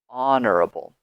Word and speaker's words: honorable: and this is because the pronunciation is a vowel sound ah honorable so be very careful